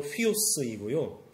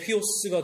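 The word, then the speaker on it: υἱός: 아들은 그리스말로 휘오스이고요. 돼지는 그리스말로 휘스입니다. 발음이 되게 비슷하죠. 아우구스투스가 이렇게 얘기했다고 합니다. 헤롯의 아들이 되는 것보다 헤롯의 돼지가 되는 것이 낫다. 헤롯의 휘오스가 되는 것보다 헤롯의 휘스가 되는 것이 낫다.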